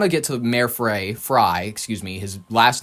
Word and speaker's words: Frey: Fry, excuse me. His last name is spelled F R E Y. So, it bothers me. Frey. It's Fry.